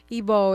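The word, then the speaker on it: Igbo: Ebo is spelled I GB O.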